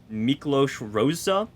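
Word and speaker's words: Miklós Rózsa: i believe that uh the composer's name is pronounced miklos rosa is how i'm going to assume i'm very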